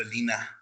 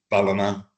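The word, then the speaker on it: Ballina: Uh some people call it Bellina because of how because of how so there people will say oh yeah we're going to Balina tomorrow. It's like where's Bolina? When it's actually Balina.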